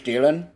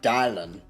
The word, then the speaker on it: Dylan: I mean, there was this guy in band class, uh, his name was Dylan, and for some reason, this old ass guy just pronounced it dialin. for no reason.